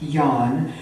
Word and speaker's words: Nhan: It looks like Nhan, but it's pronounced Nhan, but that is very opposite of his personality.